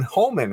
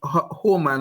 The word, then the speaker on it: Homan: Well, Homan, I guess is how you pronounce his name.